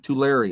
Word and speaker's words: Tulare: have maine trellure california to larry to larry okay that's how you say it all right tulare california